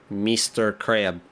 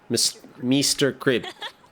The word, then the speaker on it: Meester Krbs: oh yeah I mean they even had the way you're supposed to pronounce it so it's very phonetic Mr crib yeah but it's like crib cuz there's M Mr crib all right well we